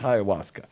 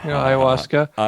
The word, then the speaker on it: ayahuasca: what's the story that what is haigha Wasco am I even saying it right close enough for you know Coe stuff for a white guy yeah ayahuasca my brother's no H at the beginning is there yeah the H is later in I'm not a